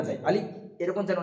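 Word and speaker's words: ألف: প্রথম এখানে আছে আলিফ তো আমরা আলিফটা উচ্চারণ করার সময় খেয়াল রাখবো যে জীবের আগা উপরের দাঁতের গোড়ার সাথে লাগিয়ে উচ্চারিত হবে আলিফ এবং দুটো ঠোট হালকা ফাঁকা থাকবে একটা বাতাস বেরিয়ে আসবে হালকাভাবে আলিফ আলিফ আলিফ যেমনটা একটা বাতাস বের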